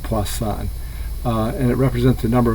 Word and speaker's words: Poisson: is spelled like poison but it's uh actually pronounced poisson and it represents the number of occurrences of